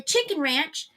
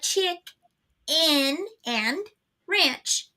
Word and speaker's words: Chick-N-Ranch: you say it okay if you say the chicken ranch yeah you're going to think that but it's not it's the chick in and Ranch show I know yeah the